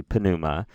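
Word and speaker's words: πνεῦμα: And remember, we do in fact pronounce those two consonant sounds distinctly, pneuma. Ta pneuma, tu pneumatas.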